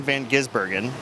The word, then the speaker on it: van Gisbergen: attention has been behind Shane Van gisbergen that's how you say it by the way this is Bergen yes about you know